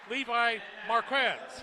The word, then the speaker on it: Levi Marquez: His name is Levi Marquez, and that's how you're supposed to pronounce it, they say.